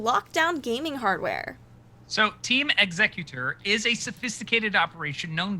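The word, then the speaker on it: Xecuter: organization known as team executor sounds like the pokemon but not spelled the same way have been arrested and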